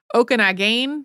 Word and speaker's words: Okanagan: pronunciations for that episode a couple of different contradictory pronunciations for Okanagan there was also okag gain which I think is a more like a Salish language pronunciation um and one that